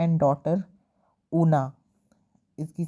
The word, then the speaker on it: Oona: And daughter Una, इसकी spelling है OONA, ऊना, ठीक है।